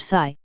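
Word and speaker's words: 呬: shh with a deep sigh, which is associated with the liver. He, pronounced like her with a yawn, which is associated with the heart. Si, pronounced like sir with a slow exhale, which is associated with the lungs.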